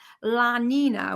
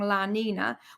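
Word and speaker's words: La Niña: with it some impact can I can I correct your pronunciation there because I've got GCSE Spanish it's just that you need the near is a little thing on it so do you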